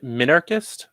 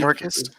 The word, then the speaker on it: minarchist: How do you say that? Mm-hmm. Minarchist, I believe. Minarchist?